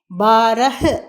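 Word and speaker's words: बारह: சொல்லும்போது ஹாவை சற்று அடக்கி உச்சரிக்க வேண்டும் யார என்று 12 பார பார இங்கும் அப்படித்தான் பாரஹ ஹ எழுத வேண்டும் ஆனால் உச்சரிக்கும் பொழுது பார என்று உச்சரிக்க வேண்டும்.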